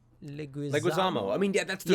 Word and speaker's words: Leguizamo: Leguizamo. I mean, yeah, that's the Yeah, okay, reason. Leguizamo.